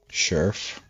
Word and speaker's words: Sheriff: Sheriff. That's how they say it in America. Sheriff. Like squirrel and mirror.